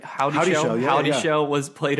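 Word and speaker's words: Houdyshell: How do you pronounce her name? Howdy Shell.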